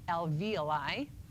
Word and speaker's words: alveoli: we're down in the alveoli that's how you pronounce that alveoli and those are the tiny little air sacs